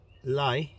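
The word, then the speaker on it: lait: one catch good catch that is lay l-a-i-t late which is milk l-a-i-t in french it's lay all right which means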